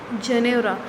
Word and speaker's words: Janeura: eyes and said, "The Janeura is still there." तो this pronounced is जनेरा।